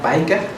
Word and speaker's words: Bijker: Hace ya buen tiempo, en el año 87, un señor que tiene un apellido holandés que se pronuncia Bijker, con Pinch y con Hughes, hicieron una investigación